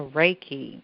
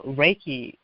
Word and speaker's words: Reiki: you I want you to speak about the raiki and it's spelled re e i k i if anyone wants to Google it if you're not familiar with that practice yes uh raiki raiki has been it's been life altering for